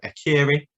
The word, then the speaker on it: Akureyri: the north of Iceland, and I can never pronounce this one, but Akureyri, that's my version of saying it.